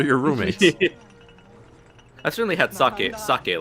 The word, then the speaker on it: sake: Sake. Rice wine factory. Sake. Fuck yay. It's an E. You pronounce E as E.